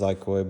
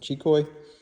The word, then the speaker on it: Xicoy: want to say it here in the US everybody says zco but I think they pronounce it chicoy uh the Telemetry adapters